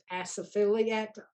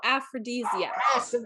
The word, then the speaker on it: aphrodisiac: So I can't pronounce the name. Asophiliac, as a desire. How do you say the name? Oh, aphrodisiac.